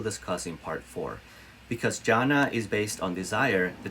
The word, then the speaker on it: jhana: to explore it further it's spelled j h a n as in nancy a again j h a and a it's called jhana or meditative absorption which